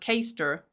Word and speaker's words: Caister: Now, Chris Marr says, okay, Chester is pronounced Caister. Caister? And it's in Norfolk, not Wales.